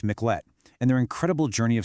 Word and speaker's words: Miclette: It's a story of the Miklet family and that's pronounced Miklet and their incredible journey of survival.